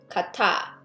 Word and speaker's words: 같아: Notice the pronunciation, I sound shift the tiot, 같아.